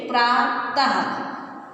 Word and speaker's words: प्रातः: इसका उच्चारण ह व्यंजन के समान किया जाता है। जैसे प्रातः, ठीक है, प्रातः, तो इनको हम इसी तरह से पढ़ेंगे और समझेंगे।